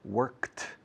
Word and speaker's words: worked: Category 2, sonido de T. Work, worked, walk, walked, talk, talked, wash, washed, pick, picked, park, parked, kick, una patada, kicked, finish, finished, like, liked, watch, watched.